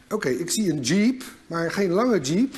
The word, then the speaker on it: 집: They said: 집 'jib'. So I picture a jeep, but a short one; it is not 'jeeep', but 'jib'.